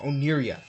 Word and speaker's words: Oniria: I keep saying the name wrong. Oniria.